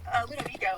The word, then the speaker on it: Ludovico: Ludovico is how you say it.